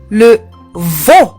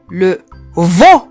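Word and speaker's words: le veau: لحم العجل لو فو، او لو فو. حاولوا تنتبهوا للنطق، او لو فو، فو.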